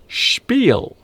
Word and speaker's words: spiel: This word is pronounced spiel.